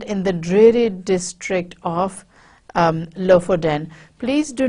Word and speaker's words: Lofoten: your internet sources give you as the correct pronunciation so they're on the Norwegian coast in the district of low for then and the guide is going to show him